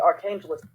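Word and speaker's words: Arkhangelsk: I'm trying to find out how to pronounce that. Setting up a defensive position called the Archangelsk.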